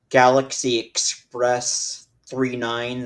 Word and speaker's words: Galaxy Express 999: Not on me right now, but I do have the DVD of Galaxy Express 39, the movie, but Okay. it's spelled Galaxy Express 999, but it's pronounced as 39 because there's three number nines.